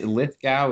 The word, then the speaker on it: Lithgow: invite yeah absolutely okay all right and it's lit gal is how i pronounce it let's go lithgow okay all right everybody so today we have